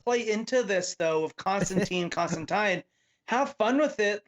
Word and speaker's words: Constantine: me then also confirms that tom taylor says constantine not constantine because that is obviously a running